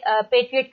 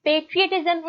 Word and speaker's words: patriot: फिर उसने बताया है कि पेट्रियट का वर्ड कहाँ से आता है। अच्छा, ये पेट्रियटिज्म है, पैट्रियटिज्म नहीं है। और पैट्रियट कोई वर्ड नहीं होता, पेट्रियट वर्ड होता है।